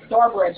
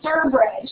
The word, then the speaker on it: Sturbridge: It's like I told my brother, yeah, he's truck driving now, and he'll say I meant Stourbridge. I'm like, no, it's Sturbridge.